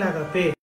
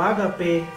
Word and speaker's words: ágape: ¿Qué era el agapé? El agapé o ágape, dependiendo la pronunciación que se quiera adoptar del griego, eran cenas de caridad.